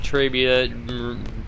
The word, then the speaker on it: Trabia: want to say that it's obvious that Trabia rhymes with the piece of the female anatomy and I'll let you